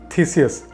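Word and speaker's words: Theseus: मैंने प्रोनाउंसिएशन देखा हुआ है, इट इज़ कॉल्ड थीसियस।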